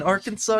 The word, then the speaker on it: Arkansas: The only acceptable pronunciation is in 3 syllables, with the final S silent.